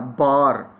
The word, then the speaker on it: bar: BAR, बार। अब इसकी pronunciation क्या है? बॉ, बॉ।